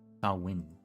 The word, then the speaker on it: Samhain: And since this is the first Samhain, the MH is the W, not just the H.